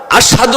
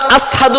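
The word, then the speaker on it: أشهد: আশহাদু বলতে পারো না, আসহাদু বলো, তোমার ভুল হয়।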